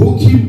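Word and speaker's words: חֻקִּים: Et pour terminer, on a vu les statuts en hébreu, ça se dit hok, ou hok, pardon, ou hokim au pluriel. Au singulier, ça s'écrit H-O-K, et au pluriel H-O-K-I-M, qui veut dire simplement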